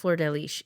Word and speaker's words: Flordelis: Um, but it's pronounced flirtish. Every pronunciation of a Brazilian person saying it, that's roughly what it sounds like.